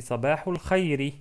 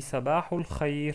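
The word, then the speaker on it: صباح الخير: Bien sûr, là, vous voyez qu'il y a une kasra à la fin. Donc, on peut prononcer Sabahul Khairi. Sabahul Khairi. Mais ceux qui parlent l'arabe d'une manière excellente, bien sûr, il s'arrête sur une soukoun. Donc, on dit Sabahul Khair.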